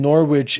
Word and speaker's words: Norwich: what his vote is the W in Norwich is silent Jacob I feel like